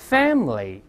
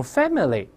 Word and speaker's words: family: 你像这个家人 family，咱们很多同学容易把它误读成 family，可能有些老师呢读的就有问题啊。这个短音哎是不发音的，理论有